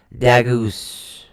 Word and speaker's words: Dagaz: It's actually spelled D-A-G-A-Z. But you pronounce it D-A-H-G-A-U-Z-E. G-A-G-U-E. G-A-U-Z-E. Dagus. Wow, that's pronunciation in half.